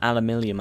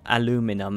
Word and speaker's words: aluminium: We do need to make some aluminium, I believe, so, or aluminum as it's pronounced there, but I say aluminium because I'm from the UK.